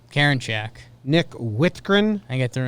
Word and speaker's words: Karinchak: Karinchak? Karinchak.